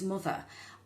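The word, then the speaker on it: Mutha: The first one was a serum by a company I hadn't previously heard of before, and it's Mother, and it's spelled M-U-T-H-A serum.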